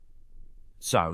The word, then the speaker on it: Sow: Sow stood for Save Our World, and it was supposed to be pronounced like the sowing of seeds in a garden. Its opponents pronounced it like the barnyard animal, and often went further